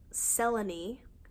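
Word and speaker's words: Selene: and he meets this girl named Sela knee spelled saline I've never heard that name pronounced Sela knee but they spell it out phonetically in the chapter so you know how to pronounce it and they're working together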